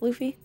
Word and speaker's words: Luffy: think they would appreciate it luffy right it's pronounced luffy luffy from one piece yeah i read some